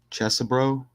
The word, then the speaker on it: Chesebro: fun but look how it says lawyer Kenneth Chesser brro that's how you say it pleads guilty over